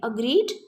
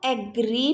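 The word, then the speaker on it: agree: Second and third form same है, अग्रीड, अग्रीड। बहुत से लोग इसको एग्री भी प्रोनाउंस करते हैं but this is नॉट a right pronunciation. You can pronounce it अग्री like this, अग्रीड, अग्रीड, right.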